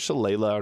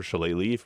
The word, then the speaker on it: Shillelagh: highest damage that you can get because of Shillelagh or Shillelagh, depending on your pronunciation of this.